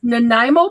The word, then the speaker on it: Nanaimo: recipe in admin it's nanaimo bar it's nanaimo yep okay well that's not where laura put the influence or the accent she put the accent on the gna nanaimo dc it's on